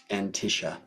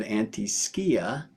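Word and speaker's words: antiscia: of bounds planets, and as they call it, Antisha. And in the class, you will see why, if you learn to pronounce that as the Greeks would, antiskia, you'll understand much more of what it is, because skia is Greek for shadow.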